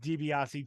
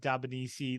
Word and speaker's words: DiBiase: Like he would call Ted DiBiase Ted Dabanisi.